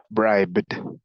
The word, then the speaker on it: bribed: D en este caso como termina con la consonante suave B vamos a pronunciarlo como d bribed bribed Okay bribe presente